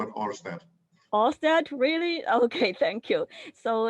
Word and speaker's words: Ørsted: Ørsted, really?